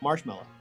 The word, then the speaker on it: marshmallow: Marshmallow. Marshmallow. And we always say mellow, Marshmallow. like mellow down, dude, but it's mallow.